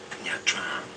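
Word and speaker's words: Nha Trang: Nha Tran.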